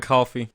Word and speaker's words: Coffey: Or John Coffey. But K-Spice... Like the soda not spelled the same.